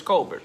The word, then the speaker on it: Colbert: I've heard his last name pronounced a bunch of different ways, but Chris Colbert, bro. I'm gonna just say how it sounds from now on. Sound and how it's spelled. Chris Colbert, bro.